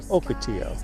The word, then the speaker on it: ocotillo: My Spanish isn't real good. I mispronounced this. This is an ocotillo. I think I skipped the first syllable, so it's an ocotillo.